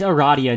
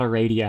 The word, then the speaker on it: Aradia: Yeah, it's Aradia, not Aradia. I said her name wrong for a very long time. Roll your R.